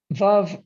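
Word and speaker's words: Veuve: pronounce this and we we worked it out that we rhyme it with love which is my god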